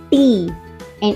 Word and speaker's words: ت: The sound of Ta is T, just like in the English word toy. But in English we pronounce it like T, and in Arabic we say it Ta. Ta. In English Ta, and in Arabic Ta. This is the difference.